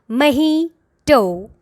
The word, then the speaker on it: mojito: Mojito.